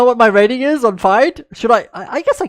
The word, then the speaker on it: FIDE: hammer I am light you must remember that it's pronounced different in different languages okay you have to remember this that is pronounced different in different languages and because I am from South African we would say fide not fidei I know that people would say fidei but for for Dutch